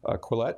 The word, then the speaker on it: Quillette: Am I pronouncing that right? Quillette, yeah. Quillette.